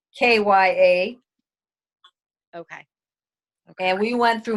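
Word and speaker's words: Khaya: spell her name KH aya okay and you pronounce it kya or yeah kya freeze Alya also you know my daughter's name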